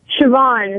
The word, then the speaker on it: Siobhan: Siobhan, it's Irish.